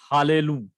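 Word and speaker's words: הַלְלוּ: And under first of the two identical consonants, whenever there are two identical consonants, the Shiva under them is always vocal. Shiva under them is always vocal. So the pronunciation is Hallelu. Hallelu. So the Shiva under Lamed is vocal.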